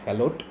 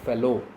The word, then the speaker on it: Fallot: The spelling or pronunciation is not Fallot, it is tetralogy of Fallot, TOF, shortly known as.